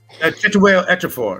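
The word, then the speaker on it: Chiwetel Ejiofor: Chituel Ejiofor.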